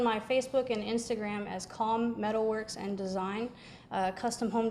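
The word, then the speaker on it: Caum: And how do you spell calm? C-A-U-M.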